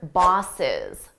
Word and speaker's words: boss is: Notice how boss is, we say it as one word, bosses. Bosses. It's the exact same pronunciation as the plural form of the noun bosses. I have 2 bosses.